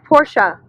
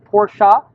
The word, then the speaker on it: Porsche: like that you said Porsche that's right it's two syllables it's not porch that's what you have in the front of your house it's porsa because it's a family's